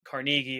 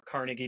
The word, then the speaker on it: Carnegie: hon hill and dale carne carnegi or Carnegie depending on how you want to pronounce the last name so this isn't